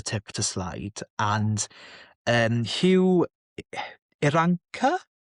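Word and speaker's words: Irranca: And Hugh Iranca, I think I've been calling him Hugh Iracana for some reason for a while, yeah, until about 20 minutes ago when I realised I was saying it wrong.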